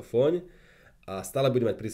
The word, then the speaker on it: Fóny: Pôjdem na skladačke z redakcie Fóny.sk do dedinky Fóny v Maďarsku, vyslovuje sa to Fóň, a stále budem mať pri sebe tieto dva produkty.